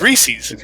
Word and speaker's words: Reese's: to be rude but it's spelled like wreath anyways Reese's Reese's it's REE es